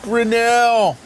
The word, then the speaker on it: Grinnell: My first name is pronounced, and my last name is pronounced Grinnell.